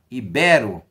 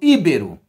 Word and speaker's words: ibero: tônica em uma palavra aula passada eu falei para vocês da palavra ibero muitas pessoas falam chamam usam essa palavra de uma forma incorreta segundo o padrão culto elas falam ibero então nós temos um erro de prosódia ou como eu falei ontem nós temos uma sílabada agora vamos prestar atenção